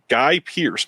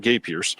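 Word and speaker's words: Guy Pearce: preacher played by gay guy Pierce not gay Pierce uh Guy Pierce arrives at a British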